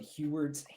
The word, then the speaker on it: Heward: character sheet, it's called Heward's Handy Haversack. Keywords? Heward's, yes. How do you spell that? HU or HE? Oh, got it. Heward. Handy Robertson. Heward. Bad. It's like Howard with a bad accent.